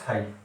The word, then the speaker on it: phi: This is फाई। ठीक है, PHI, ये स्पेलिंग होती है PHI।